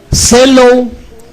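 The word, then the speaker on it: ζηλόω: es una palabra que viene del griego celow celo así como se escribe Z e l o o y significa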